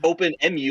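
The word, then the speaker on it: OpenEmu: at i don't know i've never never heard that pronounced emu like the bird but it makes sense it makes sense so i guess i call it all right i guess it could be open mu like open emulator but yeah open emu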